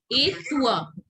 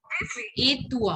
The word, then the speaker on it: et toi: How do I'm you pronounce it? Et toi. Et toi.